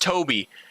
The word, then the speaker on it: Tobby: I guess it's technically pronounced Toby.